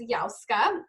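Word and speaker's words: Yahozka: Um so my name is YaKa and it's like y a h o z ka.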